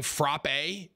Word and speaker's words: frappe: showtime dude stop saying frappe it is frappe it like rhymes with rap frap that's how you're